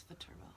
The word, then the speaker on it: Viterbo: Viterbo University? It's Viterbo.